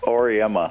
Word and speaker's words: Auriemma: Auriemma. Gino Auriemma.